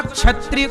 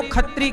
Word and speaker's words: क्षत्रिय: कुछ जगह अब जैसे कुछ लोग ना क्षत्रिय को खत्री कहते हैं क्ष को ख जो उच्चारण है ना वो पूरा नहीं आता कुछ होता है ना